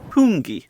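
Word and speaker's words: Hoongy: name of this place it's called hungi or at least that's how we pronounce it h o o n g y the food is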